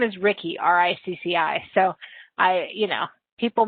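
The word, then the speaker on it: Ricci: My name is Ricky, R-I-C-C-I. So people mispronounce it. And my last name is. So you will hear people say it's Reese.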